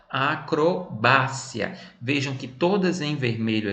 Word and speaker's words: acrobacia: No espanhol eu vou dizer como? Acrobácia.